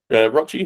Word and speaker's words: Rochi: So basically, I'm restarting the comic book project through my friend Rochi, whose name rhymes with Crotch, Rochford.